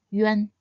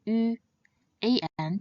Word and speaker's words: üan: And the last compound final is yuan. Previously, we learned that the nasal final an can be pronounced as an or n, just like the n sound in the Japanese currency yen.